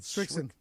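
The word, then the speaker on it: Srixon: I think it's pronounced Strix. How do you say it? Strixon.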